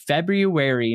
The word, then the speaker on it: February: Your favorite way of me saying it, February 9th. I love it. It's because you say it correct. We all say it wrong. I don't pronounce one of the R's. I always say February.